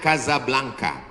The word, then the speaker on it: Casablanca: nama negaranya Maroko ibukotanya tulisannya Casablanca Hai cara bacanya Gaza Blanca Gaza artinya rumah Blanca